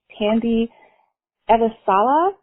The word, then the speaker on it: Tandy Elisala: seminar we are on our next day with tandy eva sala tandy that pronounced your name correctly you got it janine